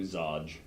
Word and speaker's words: ZOE: You can just do Zoe, or a lot of people do Zodge.